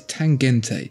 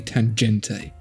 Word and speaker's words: Tangente: pick with numbers here they say it's tangente that's definitely a hard g that's definitely tangenti they can shut up okay